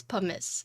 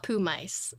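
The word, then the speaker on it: Pumice: It's pummus. It's not pumise.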